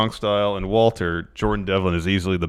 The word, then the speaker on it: WALTER: Oh, it was Walter. Yeah, that's the proper German pronunciation.